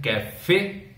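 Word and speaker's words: café: Here E which is coming in the last is not pronounced in the pronunciation, whereas in cafe the E is pronounced because E has an SN mark on it.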